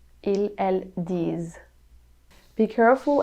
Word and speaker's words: disent: Ils, elles disent. Ils, elles disent. Be careful every time you see the ENT for the plural, it's never pronounced.